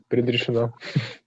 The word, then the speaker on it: предрешено: That means предрешено. Okay. The most precise. How do you say that again? Oh, this hard one. Предрешено. Okay. There we go. Too much earth sound there.